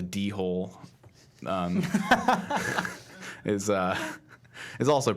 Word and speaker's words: dhole: mean the the deal the do which is spelled d h o e and I just call the dhole um is uh is